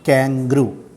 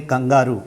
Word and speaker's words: kangaroo: duck and the kangaroo its pronunciation is kangaroo don't say kangaroo it's never kangaroo it's kangaroo that duck and the